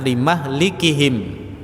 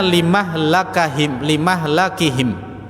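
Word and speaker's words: لمهلكهم: Ada 3 macam bacaan untuk limahlikihim. Kalau kita membacanya riwayat dari Hafs, membacanya dengan limahlikihim. Ya. Ya, limahlikihim ini karena dia seperti wazan maf'il, seperti mau'id. Ada yang membacanya limahlakihim. Lamnya fathah, menggunakan masdar mim, limahlakihim. Ini semuanya qiraah. Tetapi jumhur ulama membacanya dengan limuhlakihim. Ada 3 bacaan ini, yaitu waja'alna.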